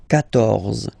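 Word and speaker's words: quatorze: So remember Q and U here. Well, basically you get to put this U vowel, because that's the rule in French, even if you don't pronounce it, okay? So you will get the sound K here. K, 14, 14, okay?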